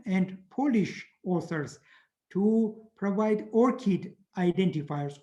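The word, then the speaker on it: ORCID: polish authors to provide orchid identifiers orchid is a flower it's pronounced orchid for better to memorize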